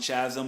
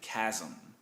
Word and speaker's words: Chasm: Now, some people will call it Cosmic Chasm, but it's actually Cosmic Chasm. H is silent.